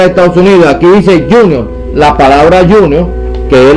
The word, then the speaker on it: Junior: este fútbol aquí dice Junior Junior aquí esto es una palabra inglés significa que se pronuncia Junior nadie dice junio esto es una palabra